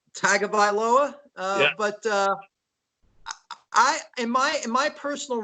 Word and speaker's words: Tagovailoa: In my rankings, if you can pronounce his last name correctly. Tagovailoa.